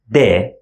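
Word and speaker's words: د: easy the first one we pronounce it de normal D sound in English de or the second one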